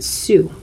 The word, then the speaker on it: Sioux: i wanted to make sure that i pronounced this particular word for you because a lot of times it's mispronounced it's pronounced sue almost like it's the female name s-u-e a su is a